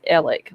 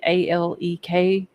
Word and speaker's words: Alec: He calls himself or pronounces the Alec name as Ellick, like Ellick. A lot of other people pronounce it Alec with a C on the end of it, or like Alek, instead of Alex with an X.